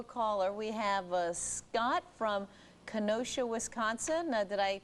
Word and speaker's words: Kenosha: We have Scott from Kenosha, Wisconsin. Did I pronounce that right, Scott?